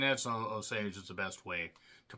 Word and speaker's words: Osage: Osage, however you want to say it, not Corsage, Indian tribe. People have different ways of pronouncing it, so Osage is the best way to pronounce it.